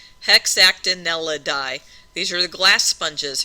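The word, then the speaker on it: Hexactinellida: Hex act n l d or die like that. Hexactineladi. So if you break it up into individual syllables, it's not too bad. Hexactinelidi.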